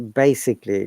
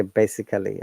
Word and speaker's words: basically: examples so if you what has ending a l l y a is a sure sound which means that we do not pronounce that at all uh please have a look at these examples so basically do not say basically okay it is quickly